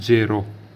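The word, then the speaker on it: zero: सीखते हैं ठीक है दोस्तो शुरुआत करते हैं जीरो से ठीक है दोस्तों तो जीरो को बोलते हैं जेई आरओ जेड ई आर ओ ठीक इसको प्र करते जेरो जेरो ठीक है दोस्तों उसके बाद एक एक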